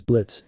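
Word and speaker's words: Blitzø: anyway the name is Blitz and the O is silent I'm the CEO and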